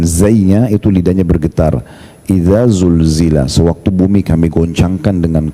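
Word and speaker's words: زلزلت: Tapi kalau kita tidak bedain, kita bacanya pakai sin, isa sulsila, silsila sulsila itu ya bisa berarti bersambung-sambung, ya, jadi berbeda makna.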